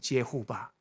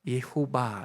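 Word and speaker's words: Jehovah: 그래서 탄생된 발음이 여호와예요. 예호바.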